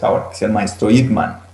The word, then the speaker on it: Ip Man: que es el maestro Ip Man, o Ip Man, como algunos lo pronuncian.